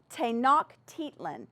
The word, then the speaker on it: Tenochtitlan: Now, some of these words are very hard to pronounce, so I put some pronunciation on there for you. But Tenochtitlan.